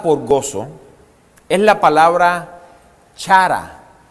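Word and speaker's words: χαρά: La palabra griega usada por gozo es la palabra chara. Se pronuncia cara, pero no de su rostro ni de la cantidad de dinero, ¿no?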